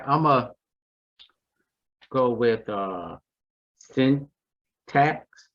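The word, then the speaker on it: Cintas: uh a 4.5 yield and they do pay quarterly okay okay okay okay all right i'm gonna go with uh send tax it's uh it's spelled c-i-n-t-a-s and it's a company that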